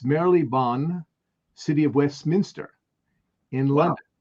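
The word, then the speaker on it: Marylebone: here i've actually looked up to how to pronounce it it's merrily bonn city of westminster in london and then there's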